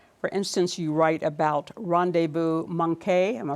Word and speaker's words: rendezvous manqué: For instance, you write about rendezvous manqué. Am I pronouncing it right?